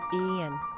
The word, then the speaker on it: Ean: quick facts on Ean gender boy origin Celtic number of syllables two ranking popularity 851 pronunciation Ian simple meaning God is gracious